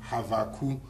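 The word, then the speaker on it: Habakkuk: another example is uh the prophet habakuk you see the proper Hebrew pronunciation is havu do you see and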